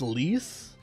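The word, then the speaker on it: Lise: It's pronounced lease.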